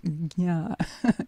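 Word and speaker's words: jña: In Sanskrit, it's JN, and it's pronounced gna, gna. Some people say gna, but that's a little bit like a lazy tongue.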